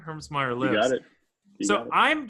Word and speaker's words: Hermsmeyer: geographically about where Josh Herms me did I pronounce that correctly Herms Meer lives got it so